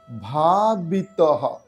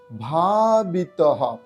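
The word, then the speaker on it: ভাবিতঃ: বৈতিতে সদা তদ ভাব ভাবিতহ সদা তদ ভাব ভাবিতহ বিসর্গর জন্য হ এর উচ্চারণ আসলো এইবার আমরা সুর করে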